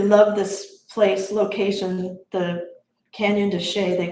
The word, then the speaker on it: Canyon de Chelly: It's che, but Canyon de Che, Canyon space d e and they pronounce it che, but it's c h e l l y.